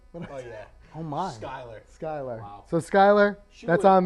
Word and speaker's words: Skylar: That was Skylar Robinson, not Schuler. Oh, yeah. Oh, my. Skylar.